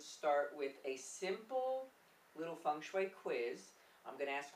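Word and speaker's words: feng: g s h UI I know it's not Fang it's fun people try to convince me it's F but it's not so we thought that we would start with a simple little funu quiz I'm going to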